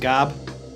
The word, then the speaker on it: Gob: on punk music and it is pronounced gob I'm pretty sure it's Gob like 99% sure I